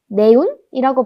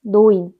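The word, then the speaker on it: neun: 그러면 네운이라고 발음을 해야 할 것 같은데 독일에서 에랑 우가 결합하면 오이 소리가 납니다. 어이. 그래서 네운이 아니고 노인입니다. 노인.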